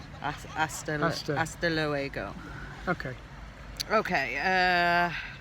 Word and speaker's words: hasta luego: I mean, the H is silent, so it is hasta luego.